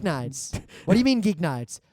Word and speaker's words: GeekNights: z a r and at geek nights yeah rhymes with week nights we've also I think